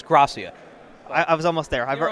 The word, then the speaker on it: Grassia: It's Grassia. I was almost there. You're almost. You know what? Everyone pronounces it wrong when they first do it.